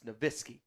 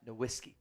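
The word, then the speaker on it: Nowitzki: double Vu it's why Dirk nitzki it's niski and not nisy uh Brandon one draft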